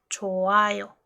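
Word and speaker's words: 좋아요: Choayo. Les acabo de decir que la J como pachim no suena, en este caso tampoco suena. Quitamos la J o no la pronunciamos, sería choayo.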